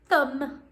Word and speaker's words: thumb: the silent b so on the end of each of those words is a silent what a silent b imagine a buzzing b okay can you spell the word thumb thumb remember that thumb